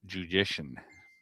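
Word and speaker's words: Juszczyszyn: So, it's Conrad Judician. It's musician with a J is how he told me to pronounce it.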